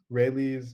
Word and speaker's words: Rayleigh: Rayleigh's name is actually pronounced Rayleigh. Sorry. Yeah, not Riley.